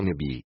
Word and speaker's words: Nabi: O Nabi semita, expresso como Nevi ou Nebi, no original hebraico, com pequenas diferenças na pronúncia em aramaico, Nabi, e árabe, Nabi, é, principalmente, uma pessoa